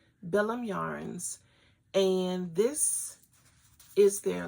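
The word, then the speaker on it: Bilum: it's billum I'm pron I'm pronouncing it the way it's spelled b i l u m billum Yarns and this is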